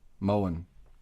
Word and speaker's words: Moen: Moen. It's like an M-O-A-N.